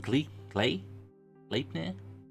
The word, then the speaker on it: Gleipnir: the, I'm gonna say it wrong, but the Gleipnir shackles. Close enough. Yeah, like Gleipnir.